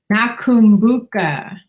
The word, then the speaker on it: Nakumbuka: Nakambuka. So we've been saying this all day. Oops, see, and I spelled it wrong. Okay, hold on. I've been saying it wrong. Nakumbuka.